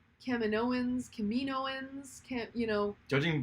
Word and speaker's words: Kaminoans: filoni she said according to dave filoni he pronounces it kaminoans that's the that's the correct way cameron owens